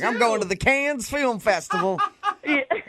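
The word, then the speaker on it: Cannes: It's not a It's a festival in Can France. Okay. But what's it? Yeah. But the pronunciation, is it con or can?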